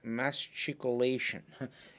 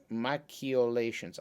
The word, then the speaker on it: machicolation: english uh but in in italian it's it's pronounced ki or ke so it's ma macchiolations i don't know it's